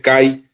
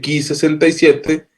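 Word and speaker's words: Ki-67: Estos tres marcadores, junto con uno que se llama Ki67, no se dice Kai, se dice Ki67, porque viene de la Universidad de Killing, Alemania. Entonces, cuando digan Kai, no es Kai, es Ki67.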